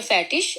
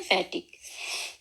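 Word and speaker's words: fertig: आगे है इ, इसकी आवाज हम लोग इश की भी होती है, शीन की भी, और बाज दफा इसको गाफ की भी आवाज निकलती है। जैसे उनके मिसाल के तौर पर फैटिश, और कई लोग इसको पढ़ते हैं फैटिक, फैटिश, फैटिक और फैटिश।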